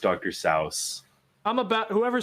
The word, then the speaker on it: Seuss: eldrich cow no that was pretty bad Dr Seuss is pronounced so don't even with that I do not need my childhood ruined here's the thing it actually is it's actually pronounced Dr sa I'm about whoever says that again I'm dealing